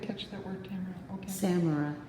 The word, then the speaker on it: samara: maple but it's a samurai isn't it samurai's the name of the seed pod oh okay i didn't catch that word camera okay samara s-a-m-a-r-a yeah some people pronounce it samara yeah um and uh